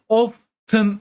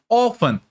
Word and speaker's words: often: Ama telaffuzuna bakarsanız arkadaşlar ben often demiyorum. Bakın buradaki t'yi telaffuz etmiyorum. Bunun yerine often şeklinde teyiz söylemeden bir telaffuz gerçekleştiriyorum. Bu tamamen bu kelimeye ait özel istisnai bir telaffuz kuralıdır.